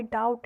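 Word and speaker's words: doubt: आई डाउट इट, आई डाउट इट, B silent है।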